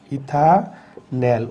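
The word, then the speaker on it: ethanal: ইথানেল উচ্চারণটা খেয়াল করতে হবে, এটা হচ্ছে ইথানেল। একইভাবে এই দুটি হচ্ছে অ্যালডিহাইড।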